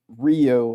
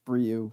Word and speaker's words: Ryu: it's right oh god it's time to leave rio is how it's pronounced actually yeah that's yeah his name is